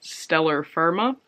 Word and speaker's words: Stellar Firma: Also from Rusty Quill is the podcast Stellar Firma, which sounds weird in my accent because it rhymes if you're British.